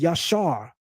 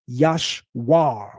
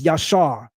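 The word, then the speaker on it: ישר: The root of Yeshurun is Yashar, not Yashwar with a W. It's Yashar, Yod, Shin, Resh.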